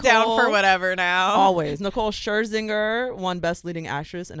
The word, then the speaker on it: Scherzinger: Scherzinger. Scherzinger.